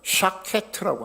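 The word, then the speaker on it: שָׁקֵד: 하나는 SH 사운드고 하나는 S 사운드고 그렇습니다.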